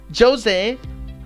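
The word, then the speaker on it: José: it because for example jose in my uh that's in my pronunciation the portuguese pronunciation why because we say the j we pronounce the j we do not pronounce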